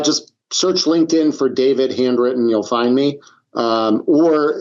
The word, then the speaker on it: Handwrytten: And so, if people want to get more information uh about handywritten, sorry, handwritten handwritten I don't know why I keep Yeah, it's okay.